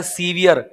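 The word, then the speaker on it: severe: अगर आपने सेवर में इ लगा दिया तो इसका उच्चारण हो जाता है सीवियर।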